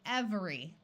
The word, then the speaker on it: every: words to be lost if you read this word carefully it would be every but most of the time it sounds sounds more like every listen carefully every with three syllables every most of the time it's spoken as every with two syllables every this word if